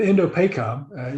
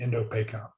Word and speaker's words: Indo-PACOM: But Indo-PACOM, you know, that's how it would be abbreviated, shortened, is pretty good. 5 syllables, I think, and you know, I think we can handle that in normal conversation.